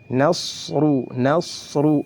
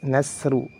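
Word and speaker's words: نصر: Kemudian huruf shad itu juga ketika diucapkan lidahnya diangkat. Lidahnya diangkat dan ditempelkan ke langit-langit karena memiliki sifat isti'la dan sifat itbaq. Nasru, tidak boleh dibaca nasru.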